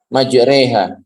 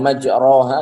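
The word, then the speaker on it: مَجْرٰىهَا: Majreha. Bismillahirrahmanirrahim. Majreha. Itu imalah itu. Jadi bukan majroha tapi majreha. Itu namanya imalah.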